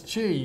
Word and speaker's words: Xi: you Peter yeah well it looks like Z but it's Chi apparently um now but Paul